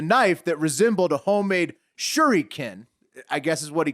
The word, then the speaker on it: shuriken: You got to say it right. It's a shuriken.